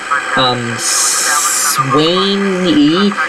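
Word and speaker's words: Suwanee: Okay, so now that they're now at 985 merge, welcome to the, Swainee. It's spelled S-U-W-A-N-E-E.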